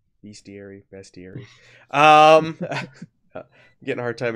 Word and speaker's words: bestiary: the questions on the best theory all right all right I said it wrong bestiary bestir getting a hard